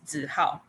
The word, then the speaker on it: Hao: that subject so um the way i pronounce my name in english to how that's actually an angle-sized pronunciation like the actual name in mandarin is how so how asides is